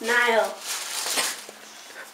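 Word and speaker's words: Niall: right I did yeah Nile Niles Niles Niles no no s ah Nile okay you see yeah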